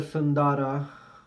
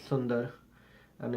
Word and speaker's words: Sundara: And Sundara, by the way, it is not pronounced Sundara. If you're talking Hindi, it will be called Sundar. And if you're talking Sanskrit, it will be called Sundara. But it is never Sundara.